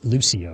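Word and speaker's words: Lúcio: Luce Lucio, right? That's how you pronounce his name.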